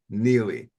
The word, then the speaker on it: Neillie: Now make sure when you reach out to him you pronounce that last name correctly. It is Andy Neely.